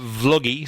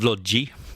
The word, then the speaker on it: Vloggi: funny Italians pronounce it "vlod-ji". And I think earlier on you said Vloggi but a lot think like a, think like a video blog, a vlog.